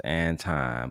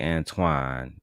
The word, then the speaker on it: Anton: Girl, you know goddamn well his name is Anton. But if you want to say Antoine, I mean, be my guest. I just think it's crazy. Absolutely crazy that, you can just pronounce that nigga name, girl. It's not that hard.